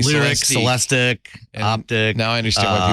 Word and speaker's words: Celestiq: It is a Cadillac, and it's pronounced Celestic. Celestic. Not Celestique.